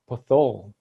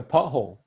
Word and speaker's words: pothole: it yeah yeah yeah nobody tells you that it's supposed to be separated ah pothole oh you